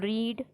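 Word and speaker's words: read: केलेली यादी करत टू रीड रीड रेड रीडिंग बघा या ठिकाणी तिन्ही वेळेस spelling second form third form first form सेमच आहे पण त्याचं उच्चारण त्याचं प्रोन्सिएशन हे वेगळं आहे त्याच्यासाठी तिथे लक्ष द्यायचं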